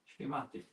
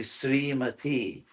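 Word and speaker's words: श्रीमती: Srimati. Yeah, which is wrong. It's actually Srimati.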